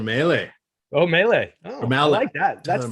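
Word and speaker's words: Mahle: pronounce these names as tyler how how does tyler say his name molly no it's tyler maylie oh melee oh mal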